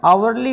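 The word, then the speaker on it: hourly: अब डिटरमिनर में यहाँ पर आया हुआ है आर्टिकल पहले में, there is एन आवरली bus service on this root. तो एच यहाँ पर साइलेंट है, यहाँ पर लग गया एन।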